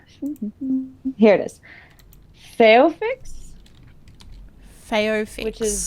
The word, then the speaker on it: Phaeophyx: Phaeofix, Phaeofix. which is spelled Phaeophyx.